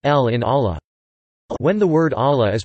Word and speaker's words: Allah: the second L in Allah. When the word Allah is preceded by the vowel a fathed or the vowel u damped, then the lam is pronounced in a distinct heavy manner, with takhim.